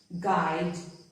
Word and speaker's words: guide: U is often silent after a G and before a vowel. Look at these words. guide.